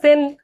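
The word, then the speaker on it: Seine: এটা অবস্থিত হচ্ছে সেন নদীর তীরে, ঠিক আছে, উচ্চারণ আসলে সেন, বাট বাংলায় লিখলে তো এরকম হয়ে যায়।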